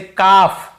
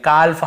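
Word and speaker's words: calf: जैसे काफ, काफ, काफ, हाफ, हाफ, काफ, हाफ, एल को यहाँ पे नहीं पढ़ना है। काल्फ, हाल्फ नहीं पढ़ना है, काफ बछड़े को बोलते हैं, हाफ यानी आधा।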